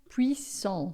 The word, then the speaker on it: puissant: Lembrando sempre os nossos ts finais a gente não pronuncia, ó. Celui que demure so abri do repose à l'ombre du puissant. O T final a gente nunca fala, certo?